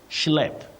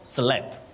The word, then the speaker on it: schlep: Then your next word is schlep. Schlep, not slep. Schlep.